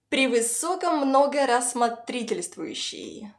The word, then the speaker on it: превысокомногорассмотрительствующий: Превысоко многорассмотрительствующий.